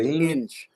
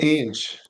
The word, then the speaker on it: Inge: Inge. I-N-G. Inge.